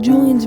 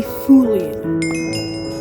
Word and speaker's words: Julian: Because on one of Julian's videos, he said his name wrong. I was like, is this on accident? So yeah, he said, hey Fulian. But Fulian. Then I was like, I corrected him, Julian.